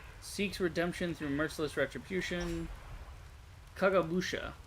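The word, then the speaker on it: Kagemusha: Kagabusha, the silent shadow. Uh, or Kagay Musha probably is the more accurate pronunciation.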